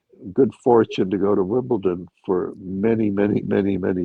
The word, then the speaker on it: Wimbledon: of Americanized resident that actually I've ever heard pronounce Wimbledon with a D correctly.